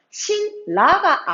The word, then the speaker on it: 신라: 근데 이 신라를 지금 선생님 발음을 어떻게 하고 있어요? 신라가 아니라 신라라고 발음을 하고 있죠. 우리가 신라 또박또박 발음하기 힘들기 때문에 이 리을의 음운에 맞춰서 니은도 리을로 발음을 해줍니다.